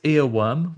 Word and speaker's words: Earwyrm: It's Earworm, worm spelt with a Y, like the type of mythical creature. So EARWYRM.